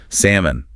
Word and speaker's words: salmon: Another silent letter culprit. This one often seen on dinner plates. Salmon.